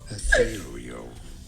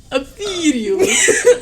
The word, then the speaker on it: ethereal: We are looking at how to pronounce this word. Ethereal. Ethereal.